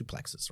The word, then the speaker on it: suplex: the white belt practice suplexes right there's actually pronounced sue plate but anyway people don't know what I'm talking about what I say it's play so I'm gonna say suplex alright so we I'm